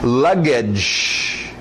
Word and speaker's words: luggage: Luggage, aquele sh no final, luggage, igual orange, strange, sh, luggage, baggage, mesma coisa, luggage, baggage, sinônimos aí.